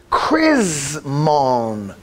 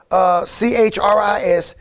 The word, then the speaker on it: Chrismon: Originally called the Chrismon tree. Pronounced, it's spelled C-H-R-I-S-M-O-N. Chrismon. Pronounced K-R-I-Z-M-O-N. Chrismon.